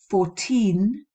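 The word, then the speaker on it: fourteen: as a pointer here 14 14 where's the stress it's on the teen isn't it whereas that can be very easily confused with the pronunciation of 40 40 four zero where the stress is on the first part so i think that's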